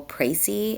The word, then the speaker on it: précis: Today, um, I want us to start learning how to write a rhetorical precy is how you pronounce that.